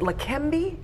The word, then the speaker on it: Leqembi: We're talking about, is it Leqembi? Is that how you say it? That is right.